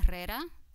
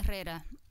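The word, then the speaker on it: Herrera: and lastly - Carmen Carrera the H is silent by the way - Carmen Carrera who to put it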